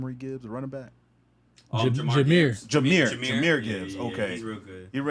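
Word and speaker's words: Jahmyr Gibbs: Jeremy Gibbs. I'm saying that right because it's spelled differently. John Marie Gibbs, a running back. Jameer Gibbs.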